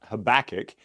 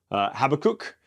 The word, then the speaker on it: Habakkuk: So I've always been taught Habakkuk, but I was telling Colin that in college I heard somebody call this book Habakkuk, and I was like, that kind of sounds fun.